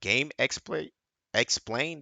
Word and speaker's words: GameXplain: Like it's by Game Exploit Explain.